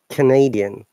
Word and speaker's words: Canadian: Which is Canadian. Did you notice that? Now we are stressing on D.